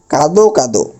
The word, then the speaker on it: কাঁদো কাঁদো: কি হবে বলতেছি দেখুন এখানে এটার উচ্চারণ আমরা কাত কাত বলতে পারবো না যেহেতু এটা দ্বিরুক্তি শব্দ মানে দুইবার উচ্চারণ হয়েছে এই দটার শেষে যে অ আছে সেটা ও হবে অর্থাৎ উচ্চারণটা হবে এরকম কাঁদো কাঁদো উচ্চারণটা কি কাদো কাঁদো কাঁদো।